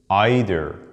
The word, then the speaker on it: either: Well, some people say either and neither sound more American, while either and neither sound more British. But I want you to know that both pronunciations are correct in both American and British accents.